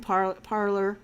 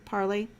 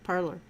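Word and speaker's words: Parler: so bongino doesn't own parlor parley i said it right the first time parlor um and same thing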